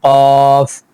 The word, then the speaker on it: ق: وہ حرف ہے قاف۔ اس کو ہم لمبا کر کے تلاوت کریں گے، قاف، والقرآن المجید۔ اب واو جب شروع